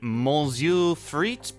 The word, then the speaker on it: Monsieur Frites: Yes, the Mu Freit building. Uh, somebody told me to just say it like that with uh with the French accent and you'll be fine.